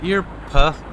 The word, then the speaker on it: Earp: Earp. It's herb. It's Erp. No, it's Earp. Look, it's spelled like an ear.